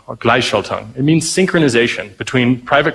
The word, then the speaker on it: Gleichschaltung: And it's, I'm really bad at pronouncing it, but it's Gleichschaltung, or Gleichschaltung.